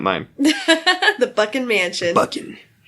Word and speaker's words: Buchan: Buchan. I hate the way his name is spelled, because it looks like it wants to be Buchanan. Yeah. But it's not. Buchan.